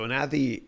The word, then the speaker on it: Anadi: So Anadi, although it has a D there, it's TH, Anadi.